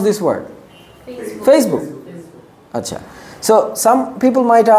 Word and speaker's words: Facebook: ফেসবুক, but how should we pronounce this word? Facebook.